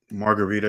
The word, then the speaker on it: Margarita: Wait, so your name is Margarita? That's how you pronounce it. That's correct pronunciation. So, it's like the pizza or the cocktail, but interesting.